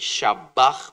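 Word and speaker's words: shabach: Shavag but it's pronounced in the Hebrew shavag.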